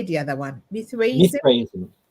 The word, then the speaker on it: Mithraism: Mithraism. Mithraism.